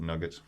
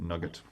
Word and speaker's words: nougat: nougat nugget then because in the north and northern ireland we would always call it nugget spelt nougat but pronounced we would pronounce it nugget no there's always new god yeah we always like